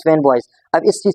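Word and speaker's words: FANBOYS: फैन बॉयज, this is a formula, this is acronym फैन बॉयज, it's pronounce फैन बॉयज।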